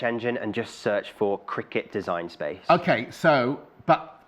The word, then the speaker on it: Cricut: Cricut like yep yeah I think it is pronounced Cricut sometimes people get confused is it quite cut it's a quick cut to its Cricut to like the sport okay I'm not gonna